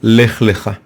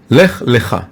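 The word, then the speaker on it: לך לך: Lech Lecha. It's pronounced differently, but if you look at the Torah scroll, you can't see the difference.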